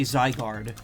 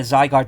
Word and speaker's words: Zygarde: hearing other people say Zygarde. So, I want to clear this up. It's zygote. So it's it's zy like sigh or guard rhymes with hard.